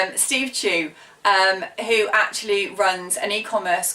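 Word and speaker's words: Chou: favorite podcast is by a guy called Steve Chu I used to always pronounce it chow Steve Chu who actually runs an e-commerce course worldwide called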